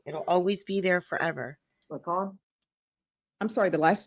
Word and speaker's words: McCaughan: So I do apologize because it looks like it reads differently, but it's McCon, correct? That's correct.